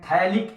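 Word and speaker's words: phthalic: अगर यहाँ हमने 2 COH लगा दिया तो इसको बोलते हैं थैलिक एसिड, P साइलेंट है, थैलिक एसिड।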